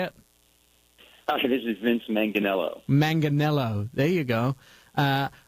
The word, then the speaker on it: Manganiello: This is Vince Manganiello. Manganiello. There you go. I am a horrible pronouncer.